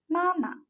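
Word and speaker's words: 妈妈: no tongue mark so the second should be pronounced shorter and lighter than the first one these two characters pronounce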